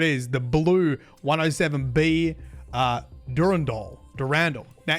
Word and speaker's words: Durandal: The blue 107B uh Durand Doll Durand. Now, interestingly, you can find some video footage of this on YouTube as well with their pronunciation of how the bomb is set. The Durandal bomb is intended to creep